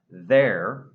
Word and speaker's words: there: The first word, there, it's voiced. There. If you say it properly, you can feel the vibrations in your throat.